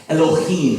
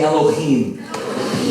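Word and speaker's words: אֱלֹהִים: And in the Hebrew language, the word for God in the first verse of the Bible is pronounced Elohim. Say Elohim.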